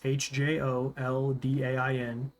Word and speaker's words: Hjoldain: It's Hjoldain.